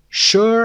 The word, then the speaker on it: sure: Sure and sugar, number 11, are the only two words in the English language that begin with SU and are pronounced SH or sh.